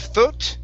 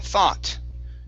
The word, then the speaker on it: thought: word th right here instead of thot It's Tha thought try that um thought good